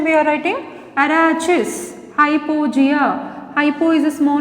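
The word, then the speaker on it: Arachis hypogaea: Arachis hypogea.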